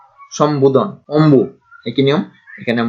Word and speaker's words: সম্বোধন: যেমন এখানে সম্বোধন, এখানে দন্তাস্বরের সঙ্গে কিছু নেই, ম এবং তার সঙ্গে আছে বফলা, তারপরে দন্ত ন এবং ধ, উচ্চারণ হচ্ছে সম্বোধন।